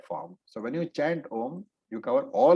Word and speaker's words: Om: It is only Om, which is a single syllabled, alphabet, Om. And therefore, Sampradaya says that chanting Ma separately is incorrect. And I have seen several people, including advanced students, advanced teachers also, saying Aum.